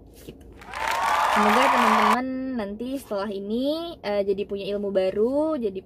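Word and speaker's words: 이: dengan huruf i pada nya hihg contohnya misalnya ih Jong Wook Jadi bukan Lee Jong Wook tapi hijau move kayak gitu Jadi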